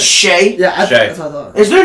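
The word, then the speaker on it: Shai: want to stay on the Knicks is it Shy or Shay Shay it's Shay yeah is there not an i in there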